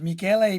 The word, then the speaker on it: Michele: So his name is his actual name is Michele Pio. Okay. So in English, Michael. Michele is Michael, spelled like Michelle, but it's Michele Pio.